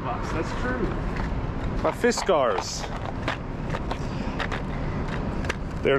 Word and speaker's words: Fiskars: Also, it's it was a lot of fun hearing people all around the country pronounce Fiskars in a different way. Fiskars, Fiskars, Friskers. It's Fiskars.